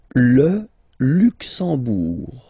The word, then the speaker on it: Luxembourg: Le Luxembourg, okay, final G not pronounced, and then when you combine this M here, you get the sound en. You don't pronounce the M at all, it's this nasal en, okay?